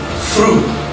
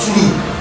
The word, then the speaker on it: through: Through. It's not true. It's through. Fed.